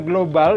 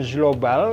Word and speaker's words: global: Nah, benar dibacanya global dan bukan global karena ini sama seperti ini. ketemu huruf mati jadi G, ikut ke yang berat. Hanya kalau JE dan JI itu menjadi J, jelas.